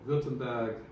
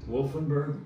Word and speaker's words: Württemberg: southwest Germany, part called Württemberg. Well, how do you spell that? Oh my God. Wolfenberg? Württemberg. Württemberg. The Kingdom of Württemberg. This is Wumlaut Rttemberg. Okay, Württemberg.